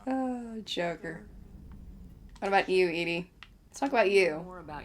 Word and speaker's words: EDI: Edie. EDI is the phonetic pronunciation of EDI. That is an acronym for Enhanced Defense Intelligence.